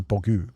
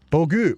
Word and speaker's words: bogo: Bogo translates to dumbass, pronounced as bogu. Bogu, bogu, bogu.